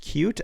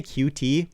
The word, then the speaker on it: Qt: pretty interesting cute then he says this pronounced cute I say cutie but whatever cute and a pretty